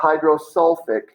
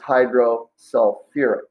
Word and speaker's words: hydrosulfuric: because as we mentioned, any acid that contains sulfur is going to add a UR syllable right before the ending. So H2S is not, it begins with hydro, but it's not hydrosulfic, it's hydrosulfuric.